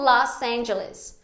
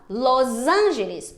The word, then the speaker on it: Los Angeles: dos americanos falando português só que nós brasileiros também fazemos um erro quando a gente pronuncia em inglês aplicando a regra do português quando a gente não deveria numa sequência como los angeles por quê porque a